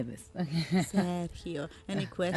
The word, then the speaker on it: Sergio: Sergio, any questions? Am I saying it right? Perfect.